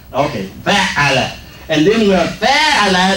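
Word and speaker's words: فعّل: the fact that there's emphasis on the second syllable. Instead of saying fa'ala, we say fa'ala. Fa'ala, fa'ala. So the emphasis is on the second letter, fa'ala.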